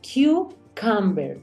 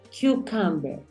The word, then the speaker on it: cucumber: Cucumber. Primer sonido abierto, segundo cerrado. Cucumber.